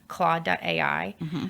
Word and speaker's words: Claude: I've heard a lot about how do you spell that c l a u d e okay claw.